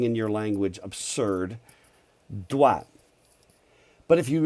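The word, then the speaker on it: doigt: dwa but if you if you actually didn't know how to pronounce french and you just looked at that you'd go doiget you know you would almost say digit just by reading it right what about spanish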